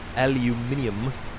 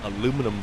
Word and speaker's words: aluminium: you pronounce it uh the uk pronounces it aluminium not aluminum foil just seems disgusting you